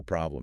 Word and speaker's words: problem: For problem, the stress is firmly on the first syllable. Problem. Problem. The O sound is that short, open O, again, like in hot. And the final M sound is crucial.